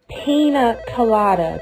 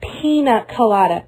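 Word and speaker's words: piña colada: no Mr Moco no no no no it's pronounced pina colada that's what I have that's what I have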